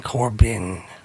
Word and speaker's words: Corbijn: Anton Corbijn. I think you say it like that.